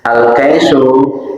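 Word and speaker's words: الكيس: Al-kaisu, adapun lafaz al-kaisu bifathil kafi, dengan dibaca fathah huruf kafnya, wa iskamil ya'i, dan dibaca sukun ya-nya, kai, al-kaisu, wa yutlaku, dan diucapkan al-kaisu ala ma'anin ingatasi makna.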